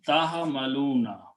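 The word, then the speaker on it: تَحْمِلُونَ: Now, how do we pronounce? We put a ta with a fatah, taf'aluna. So tahamaluna. Same harakat.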